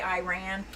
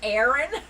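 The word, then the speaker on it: Aran: And I know I've been pronouncing it wrong. I don't know why I say Iran. It's Aaron.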